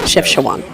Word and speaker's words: Chefchaouen: Chefchaouen.